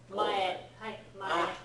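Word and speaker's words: 前: when it's a standi it's usually pronounced as May right so for example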